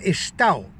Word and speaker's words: estau: Pero pronuncian estao y escriben estau.